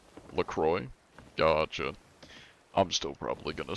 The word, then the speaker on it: LaCroix: The X is silent. It's, LaCroix.